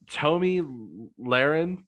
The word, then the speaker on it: Tomi Lahren: okay how did i tomi lahren that's how you say her name i was thomas by